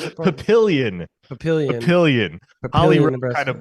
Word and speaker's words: Papillion: papillonium Nebraska or Papa what how do you pronounce it Papillion Papillion pillion kind of butchered it on the